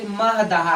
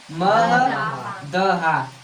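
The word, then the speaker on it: महदहा: ठीक, और देखिए यहाँ पे मह दहा है, क्या है? मह दहा। इसका प्रोनाउंसिएशन थोड़ा अजीब से, तो 4-5 बार बोलिएगा तो याद हो जाएगा अच्छे से, ठीक।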